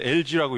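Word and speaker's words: algae: 그래서 우리말로 하면 영어로 하면 저렇게 쓰고 발음은 LG라고 읽습니다.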